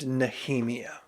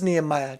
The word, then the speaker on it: Nehemia: meets a princess named nemia her name is actually spelled like Nehemiah but without the final H and I was going to get on here and say her name was Nehemiah just for poop and